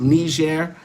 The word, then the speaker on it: Niger: He doesn't know that Niger is pronounced Niger rather than the N-word as he is trying to claim.